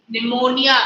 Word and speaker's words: pneumonia: Pneumonia. Pneumonia. The pronunciation is pneumonia.